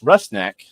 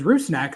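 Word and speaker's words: Rusnák: And Albert's last name is pronounced Rust Neck.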